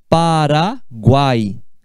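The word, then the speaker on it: Paraguay: É diferente de falar Paraguai. Paraguai. Guai é uma sílaba só.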